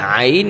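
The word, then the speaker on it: ع: নরম করে বলতে হবে আইন আইন আইন উচ্চারণ ক্ষেত্রে আমাদের গলা একটু চাপ দিয়ে পড়তে হবে কন্ঠতে তাহলে কিন্তু আইনের উচ্চারণটা সুন্দর হবে এবং নরম আওয়াজে পড়তে হবে। যেমন আইন গলায় একটু প্রেশার দিয়ে পড়তে হবে বেশি না আবার এত কমও না।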